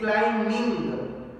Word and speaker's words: climbing: No, it is climbing. Here B for ball, B is silent.